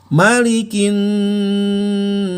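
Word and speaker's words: مَالِكِ: Malikin nas. Kalau di surat Al-Fatihah maknya panjang, 2 harokat. Maliki, bukan maliki. Kemudian masuk ke yaumiddin.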